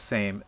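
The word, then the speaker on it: seim: I know it as same s e i m but it's pronounced the same as the word s a m e or s m Sam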